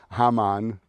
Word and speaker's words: Haman: relationship now Rabbi mention he calls it hmon it's the American pronunciation hamon he was a minister